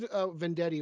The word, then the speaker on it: Venditti: I liked Vendetti or whatever. I can't pronounce his name. Robert Yeah, Venditti.